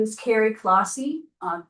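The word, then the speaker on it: Clohosey: Hi, my name is Carrie Clausy.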